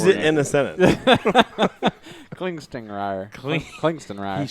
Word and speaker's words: Klingstingrier: Klingstingrier. He Klingstingrier. says that the second G is actually silent.